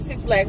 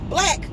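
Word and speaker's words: 6lack: I call him 6 Black, but I know it's just pronounced Black. Black, for 2.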